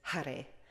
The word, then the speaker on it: Hare: shiva ra namo and hare which is a little more like hade when you stretch it out when you're singing but i think if you really pronounce it in sanskrit it's hare so that is the